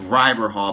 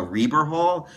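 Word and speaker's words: Rieber Hall: be at a place called I thought it's pronounced ryber Hall but it's it's pronounced a Reber Hall I needed to be at a place called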